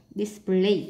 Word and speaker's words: display: Selection nhấn âm 2, vegetable nhấn âm 1, display nhấn âm 2, spinach nhấn âm 1,